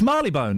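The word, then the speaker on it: Marylebone: How would you say that? Mone. Wrong. Mapone. Correct. It's Marley Bone. It's Bob Marley Bone. I actually would have said Marley Bone to begin with, by the way.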